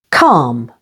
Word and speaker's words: calm: L is also silent before M, as in the words almond, with the stress on the first syllable. Almond. Calm and palm.